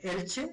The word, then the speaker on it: Elche: está estudiando en la Universidad Miguel Hernández de Elche, así se pronuncia, ¿sí?